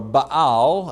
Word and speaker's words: Baal: into the kingdom now the word bail or a bow as it's pronounced means master or possessor